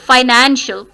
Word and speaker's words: financial: Financial, nan. Now nan, आपने उसको लंबा किया. Finan, stress किस पे आया? nan पे. Financial.